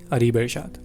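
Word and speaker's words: Areebirshad: me she asked my name what's your name areebeshad what for some reason they never get the pronunciation of my name so i spelled it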